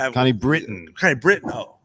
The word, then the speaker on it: Connie Britton: So the name is Connie Breton. Connie Britton. Connie Britton. Oh, it's spelled Breton.